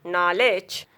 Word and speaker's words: knowledge: Knee, new, knit, knob, knock, knot, no, knowledge. Knife, night, kneel, neck. Rule of silent letter L is exception.